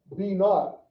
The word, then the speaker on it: b naught: It just pronounce it b naught. Why? That's the b naught. H-T. B naught. Oh, okay. I thought you were saying naught, like N-O-T. No, b naught.